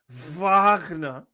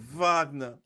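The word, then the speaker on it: Wagner: Vagnner. Say it right. Vagna.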